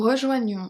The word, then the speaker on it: rejoignons: Rejoignons, the S is silent.